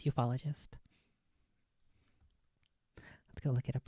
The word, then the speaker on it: ufologist: it I noted it ufologist ufologist well it just repeats okay ufologist and he said UFO ologist this is from an